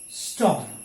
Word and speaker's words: storm: Okay, in all these words, you don't have to say letter R. It is silent. So farm, this is warm, barn, born, okay, corn, storm.